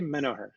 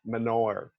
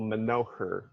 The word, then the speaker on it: Menoher: My father used to, when he was alive, pronounced it Menoher, like almost with the H as a W or going right in. But I actually kind of like accentuating it and telling people Menoher, putting a little more emphasis on the middle syllable to make it easier to spell and to actually record.